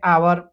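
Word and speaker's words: hour: honest हम पढ़ते हैं वैसे आवर में एच साइलेंट हो जाता है हम इसे आवर पढ़ते हैं इतनी हम रीडिंग करेंगे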